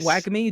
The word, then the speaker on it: WGMI: to identify the word and know how to pronounce it and know what it stands for like wag me wgmi it's simple it resonates i'm guessing there